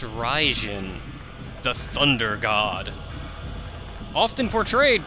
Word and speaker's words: Raijin: Now, our statue there is of, I believe it's pronounced Raijin, the Thunder God.